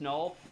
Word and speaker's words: NUL: N U L pronounced null is just a null terminator back slashzero.